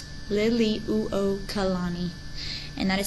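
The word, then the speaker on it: Liliuokalani: want the current Hawaiian Monarch was the queen Lily walani Lily uani and that is spelled l i l i uo k a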